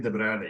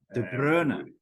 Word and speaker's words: De Bruyne: The English people pronounce it wrong, right? It's Kevin De Bruyne, yeah. De Bruyne.